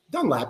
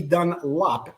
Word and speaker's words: Dunlap: because my name is Dunlap not dun Lop as many people would say back in the day